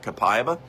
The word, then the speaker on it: copaiba: Copaiba. That's a c o p a i b-a. Some people pronounce it capayiba. Uh, the Brazilians pronounce it copaiba.